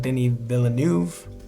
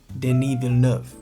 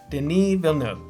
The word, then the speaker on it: Denis Villeneuve: Denis Villeneuve, right? So, yeah. Botched it. So somebody wrote, his name is Denis Villeneuve. Denis Villeneuve, 2 syllable surname, not 3, meaning Newtown.